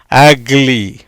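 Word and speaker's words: ugly: ஆன்னு தான் உச்சரிக்கப்படும், அக்லி.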